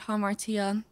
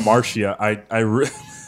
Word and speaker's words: Hamartia: And in December, I released a 5-track EP called Hamartia. That's how you pronounce it. I was confused on how to pronounce that. I thought it was Hamartia.